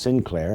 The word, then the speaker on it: St. Clair: The St. Clair family of France is pronounced Sinclair in England.